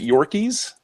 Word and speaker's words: Yorkes: the surface we've got dirt rude is it pronounced in the shows that your keys yes okay cuz I always read it as